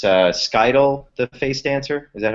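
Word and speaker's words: Scytale: since i've read it but uh it's uh skydl the face dancer is that how you pronounce his name uh sky till yeah i tell ya so you have him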